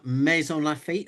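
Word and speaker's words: Maisons-Laffitte: Um Mazons Lafit is that correct? Am I saying it correctly? Mason Lafit and they're with us tonight.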